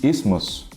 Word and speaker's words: isthmus: Que basicamente você ignora a existência desse TH e só fala asthma e isthmus.